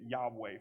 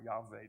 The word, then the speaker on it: Yahweh: is where we get Yahweh from or Yave depending on how you want to pronounce that, a W or a V.